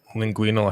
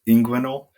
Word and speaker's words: inguinal: Linguinal hernia. I don't think that's right. I think we need to go to the expert here. Is that Tim? Is he right? It's inguinal.